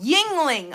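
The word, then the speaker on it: Yuengling: a good brand embroidery on it that's still pronounced tingling. Really? Would not have. Oh, Yingling.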